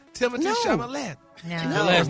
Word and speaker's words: Chalamet: It's like Chevrolet, not Chevrolet.